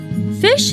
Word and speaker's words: phishing: or download an attachment fish is pronounced just like it's spelled which is to say like the word fish the analogy is of